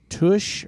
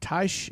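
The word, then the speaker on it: Tesch: last name wrong but it's tush or TSH it's te s c h doesn't matter Sammy 10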